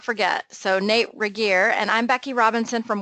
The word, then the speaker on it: Regier: Regier. Well, it's Regier.